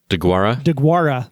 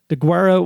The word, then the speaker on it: Deguara: DeGuara. Thank you. DeGuara gained 1,117 yards during his collegiate career at the University of Cincinnati. He also had 13 touchdowns combined in his junior and senior seasons. DeGuara was a first-team All-American Athletic Conference selection.